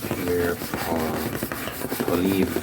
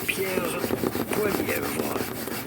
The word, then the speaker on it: Pierre Poilievre: In French or in French Canadian, his name would be said as Pierre Poilievre. Pierre Poilievre. But if you find in English, you say his name as Pierre Poilievre.